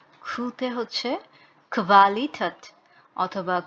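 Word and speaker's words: Qualität: খু, খুতে হচ্ছে kvalitet অথবা kvele, kvadrat। তো এই ইউ থাকলে কোয়া না হয়ে kvা হচ্ছে, ভি টাইপের উচ্চারণ হচ্ছে। কোয়াড্রাট, কোয়াড্রাট হচ্ছে স্কোয়ার, নর্মালি যে স্কোয়ার শেপ হয়।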